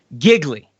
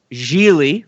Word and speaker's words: Gigli: and enamored by it giggly or as it's truly pronounced Gigli rhymes with really now I know Zack